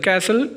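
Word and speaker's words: castle: इसी तरह नेक्स्ट लेफ्ट्स है कैसल। कैसल में टी साइलेंट है और थंब में हमारे पास बी साइलेंट है।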